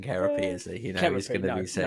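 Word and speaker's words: Kerope: Do you know that the correct pronunciation is actually Kerapy? Do you know that? Really? Wow. Yeah. Harry with all the drumming facts. Paul Francis of previous of Zildjian, now of Royal Cymbal Company, says both are okay, but the official pronunciation is Kerapy. Kerapy. Yeah. So. Yeah, but you do sound less of a prat if you just say Carope.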